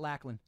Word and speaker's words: Lachlan: Instagram at Lachlan. Pronunciation, Lachlan.